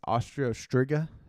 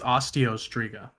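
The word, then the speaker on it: Osteo Striga: how to say this austria striga yeah i think it's osteostrica okay like osteo is in bone okay that weapon and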